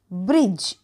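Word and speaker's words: bridge: तरी ब्रिज ठीक आहे ब्रिज तर याचा अर्थ काय झाला पूल आणि इथे सायलेंट लेटर आहे डी तर मित्रांनो आज आपण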